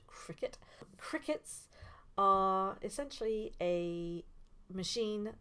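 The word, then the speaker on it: Cricut: is using a cricet I also used to call this a cry cut for ages but it's actually pronounced Cricket crickets are essentially a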